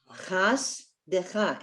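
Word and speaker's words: חסדך: The first shva under the samech is silent. Chas. It ends the syllable. The second brother is a rowdy one. De cha.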